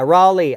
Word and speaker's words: Raleigh: and then Le cuz it's l e i g h which would be Lei and R A is like raah rale so it I don't know it's weird Raley yeah Raley I know that's how you say it right that's how you